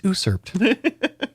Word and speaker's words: usurped: Yeah, like is it supposed to be unsurped? No, it's usurped. Keep your ins to yourself.